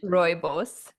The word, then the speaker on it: Rooibos: Rooibos. Rooibos. Rooibos. Tell us about that cuz it's a key ingredient in your skin care. So, what does it do for your skin? So, rooibos, otherwise known as red bush tea, is actually